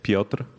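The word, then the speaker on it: Piotr: So, my name is Pra. Uh, it's P I O T R. I was actually going to spell it that way.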